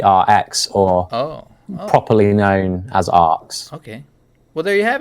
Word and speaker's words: ARX: ox or a rx or properly known as arks okay well there you have it guys that's that's how you pronounce arts that's all I wanted to ask